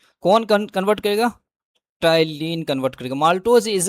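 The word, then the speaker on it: ptyalin: enzyme is द टाइलीन पी यहां पे silent होगा इसलिए टलीन सलेवरी अमाइलेज़ बोला जाएगा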